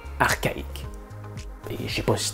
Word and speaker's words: archaïque: Ben oui, le même CH qui fait un ch dans le mot chat fait un K dans archaïque.